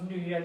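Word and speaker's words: 女: It's pronounced Nuye, means woman, like you know.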